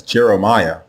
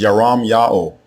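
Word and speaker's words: ירמיהו: say the prophet's name the way you say his name is yaram yao yaram yao and the meaning is yao will lift another mispronounced royal name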